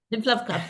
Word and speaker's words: Lymph Love Club: Lymph Love Club, yeah.